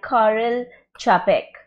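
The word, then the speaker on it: Karel Čapek: famous and influential science fiction plays written by Carl chapek that is the pronunciation again rossum's Universal robots let me tell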